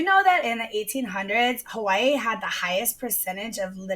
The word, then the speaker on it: Hawaii: And then you have H, K, L, M, N, P, W, which is often pronounced like a V, but not always. Okay, so like in Hawaii, like Hawaii.